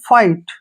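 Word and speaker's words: fight: एच इसमें silent रहेगा तो इसको हमने फिट नहीं पढ़ना है इसको पढ़ना है फाइट ठीक है ना ध्यान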